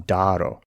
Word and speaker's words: daro: For the Macedonians, it's pronounced daro. Daro. They keep the alpha from Doric, and this seems to be correct because we do have evidence that the Macedonians shared this feature with Doric. But we also have a hard D sound at the beginning. Instead of tharo, it's daro.